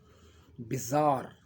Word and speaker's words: bizarre: Bizarre is pronounced as bizarre.